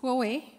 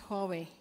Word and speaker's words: Huawei: tell us your name and how do we pronounce Huawei my name is yes Huawei is Huawei okay all right um what should we